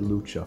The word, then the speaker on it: Lucha: Yes, I pronounced it Lucha for once.